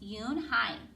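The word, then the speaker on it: Unhei: "Yunai," said the girl. "One?" the girl asked, scrunching up her face. Oni? Some kids chanted. No. It's spelled U-N-H-E-I. It's pronounced Yoon-hai.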